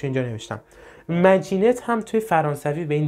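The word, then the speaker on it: Maginot: دیوار مارجینال یا مگنیتو فرانسوی بهش میگن بذارین تلفظش اینجا نوشتم مجین هم توی فرانسوی به این دیوار می‌گفتن مارجینال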